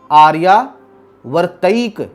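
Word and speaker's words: आर्यावर्तैक: बड़ी है, द्वीपे भरतखंडे आर्या वर्तैक, इसको तई बोलेंगे, ठीक है जी, आर्या वर्तैक देशांतर्गते पुण्यक्षेत्रे कलियुगे कलि प्रथम चरणे।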